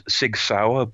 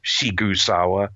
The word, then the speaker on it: Sigsawa: it's or I guess it's written as sigsawa but you know his it's pronounced shawa so you know whatever